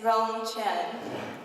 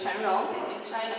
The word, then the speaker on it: Chen Rong: Next to Shan is Rong Chen. The correct way to pronounce his name is Chen Rong in Chinese.